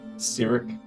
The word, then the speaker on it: Cyric: How you pronounce that name again? Cyric. Cyric. Sorry, it's spelled SYRC in our notes, so. It's SYRIC. It's CYRIC, so. CY.